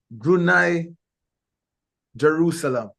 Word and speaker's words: Brunei Darussalam: ambassador in thank you thank you zul so brunai Jerusalem confirm that I have pronounced it correctly especially the last that is